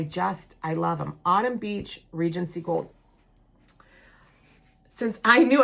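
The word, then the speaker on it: Beech: This is on Autumn Beach and it's spelled B E C H. It's a tree, not the beach where you go and and have a good time.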